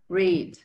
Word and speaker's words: read: Aquí incluso tenemos del lado izquierdo, del lado derecho, una palabra que utiliza esa pronunciación, la I alargada. ¿Cómo sonará? Read, ¿no? Read a book. Read.